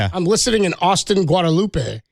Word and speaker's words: Guadalupe: Guadalupe is the street pronunciation. They don't say Guadalupe.